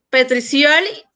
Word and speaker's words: Petriccioli: Pues muchas gracias a Irving Vega Petriccioli, así se pronuncia, mi querido. Se pronuncia Petriccioli.